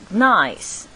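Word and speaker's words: gneiss: of metamorphic rocks called nice the G is silent so we don't pronounce it it's like it's like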